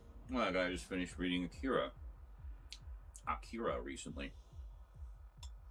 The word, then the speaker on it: Akira: I just finished reading Akira Akira recently. Or as that one guy pronounced it, Akura.